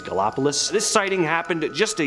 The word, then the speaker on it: Gallipolis: I'm not sure if I'm pronouncing that right, but I think it's Gallipolis.